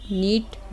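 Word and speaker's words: knot: इसको लर्न कर लें कि एन के जस्ट पहले के आ जाए ना तो उसको नहीं बोला जाता, तो के साइलेंट हो जाता है।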